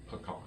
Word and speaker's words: pecan: a dictionary three 1960s there's only one pronunciation pecan mmm that's the only way that word is pronounced oh the other way is incorrect alright folks we're gonna